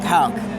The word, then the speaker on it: Houk: And it said pronounced Houk. Houk, yeah.